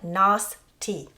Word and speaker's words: Nostie: And Nostie, so Nos like moss or boss, and tea like drinking tea.